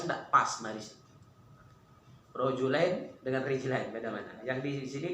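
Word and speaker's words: رِجْلَيْن: Kalau yang tidak paham, dibacanya rojulain. Tulisnya sama kan? Rijlain dan rojulain. Sama tidak tulisnya? Sama. Makna beda. Kalau dibaca rojulain, 2 ekor lanang, 2 ekor jantan. Kalau rijlain, 2 kaki.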